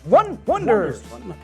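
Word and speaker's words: Oneders: them in the movie it today it's the one one wonders yeah but it spelled like the o-neders but no you you watch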